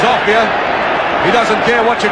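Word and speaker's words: Offiah: They call him a fire because it rhymes with chariots. His real name is Ophir.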